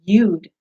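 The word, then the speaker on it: יוד: it looked like a little comma and it's pronounced you'd it's Y UD and that little symbol holds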